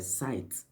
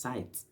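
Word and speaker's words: scythe: It's been a while I wrote this thing down, but I met a word that's site. S C Y T H E. And I I wasn't certain if the pronunciation was sit or site.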